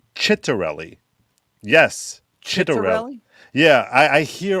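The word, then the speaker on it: Ciattarelli: lot of people who talk politics it's actually pronounced chittarelli yes yeah i i hear all these people everyone refers to him as citarelli because i think they're afraid that saying it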